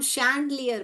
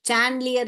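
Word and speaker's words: chandelier: पढ़ते हैं मगर ये क्या है बेटा ये शैंडलियर है जो झूमर बोलते हैं ना हम हिंदी में इसको झूमर झूमर को हम शैंडलियर बोलते हैं।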